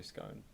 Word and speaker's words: scone: Alex gone as well but it rhymes with stone when you say scone yeah yeah alright satisfied